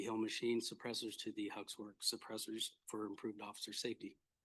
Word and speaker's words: Hux Wrx: Hux Wrx is how you pronounce it.